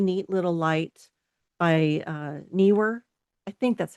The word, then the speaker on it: Neewer: So this is a really neat little light by uh Neewer. I think that's how you say it. I'm not good at pronouncing company names, but n e e w e r.